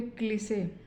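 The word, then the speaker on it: cliché: जैसे CLICHE, यहाँ पे क्लीसे, यहाँ पे शब्द के अंत में ई आया है तो इसका उच्चारण, ई का उच्चारण ए के रूप में किया जाएगा।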